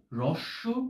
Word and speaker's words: হ্রস্ব: আমরা ঠিক যেভাবে একটু এই হয়ের নিচে যদি রফলা রাখি, তাহলে র আসবে আমাদের মুখ দিয়ে। আমরা সরাসরি যেরকম র উচ্চারণ করি, সেই রটা না বলে র, এই হ যোগ র আমাদের বলতে হবে, এটাকে আমরা হ্র বলতে পারি। এবং এই ক্ষেত্রে হ্রস্ব কথাটা এভাবে আসবে।